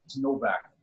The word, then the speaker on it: Nowak: correction uh last name Novak W is pronounced a v so Novak okay I feel so